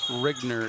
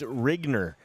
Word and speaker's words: Rigner: Rigner is how it's pronounced.